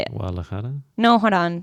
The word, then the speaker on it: Guadalajara: Guadalajara. No, hold on. Say it louder. I can't hear you. Guadalajara. You're not saying "g." You're saying "wada."